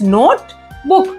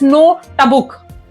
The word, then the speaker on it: notebook: 2 syllables, and that is why you say notebook as notebook. You never say this as notabuk.